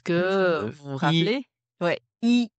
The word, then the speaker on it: 医: vous vous rappelez ouais i la prononciation comme le chiffre 1 voilà premier ton donc i mais à partir de